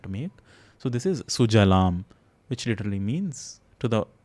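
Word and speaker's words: सुजलाम्: So it's not Shujalam. Bengalis, again, the composition itself being in Bengali, they own it, but they have this tendency of mixing up sa and sha also.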